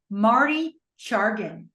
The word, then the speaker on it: Marty Chargin: I have the pleasure of being here with an awesome person, awesome trader, Marty Chargin. Yeah, you got it right. Did I pronounce it right?